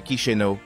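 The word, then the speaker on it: Chișinău: Moldavie avec sa capitale chizino prononcée kichenau est un joyau caché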